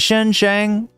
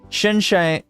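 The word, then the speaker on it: Xinjiang: me out here chat is it Shen xang Shen xang yes Shen Jang there we go the x is like a sha Shen Shang Shen Jang Province right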